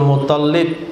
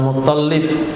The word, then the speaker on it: Muttalib: Jangan salah baca, Hamzah bin Abdul Muttalib, bukan Muttalib tapi Muttalib. Siapa paman Nabi? Abu Talib. Kakek Nabi Abdul Muttalib. Kadangkala yang terdengar oleh kita, mereka bilang kakek Nabi itu Abdul Muttalib, lamnya tasdid, tapi yang betul huruf tohnya tasdid, Muttalib.